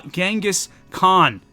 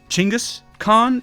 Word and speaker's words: Chingis Khan: Uh Genghis Khan, this dude right here, Chingis Khan is, you know, probably a little bit closer to his actual pronunciation.